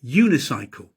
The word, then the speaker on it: unicycle: And sometimes a vowel sounds like a consonant. Uh unicycle. The man is riding a unicycle. It sounds like it begins with a y. Y. Unicycle.